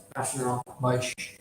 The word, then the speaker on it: Vaishnava: How do I pronounce that? Vaishnava. That's Vaishnava.